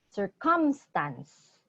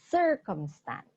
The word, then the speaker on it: circumstance: Okay, as you can see, the emphasis is on the first syllable. So it's not circumstance, it's circumstance.